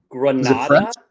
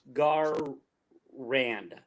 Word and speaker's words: Garand: M1 grand. Isn't that kind of what I said? Grand, like no. Garand. No. Like so it's Gar. Yeah, it's gotta go hard.